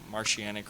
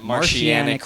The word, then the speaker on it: Martianic: Martianic Martianic Records. How do you spell that? That's a. M-A-R-T. Oh man, don't ask me to spell right now. I'm fucking. Faded. IANIC. It's like saying Martian mixed with oceanic.